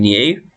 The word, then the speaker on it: knew: you thought that you knew then that's got the k in front and it's a silent k and it still sounds the same as the other news so new with a